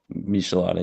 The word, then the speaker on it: Michelada: Michelada, yeah. Michelada, yeah, Michelada. Yeah. Final? Yeah. Max giving a correct pronunciation to redeem Max.